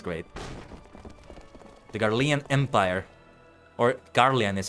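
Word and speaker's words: Garlean: The Garian Empire or Garian is how you say it.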